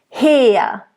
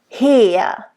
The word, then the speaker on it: her: Tod und Verzweiflung flammet mich her. Mich. It's not too harsh though, and it's not mich. Okay? Her. It's a nice closed E at the end. Her.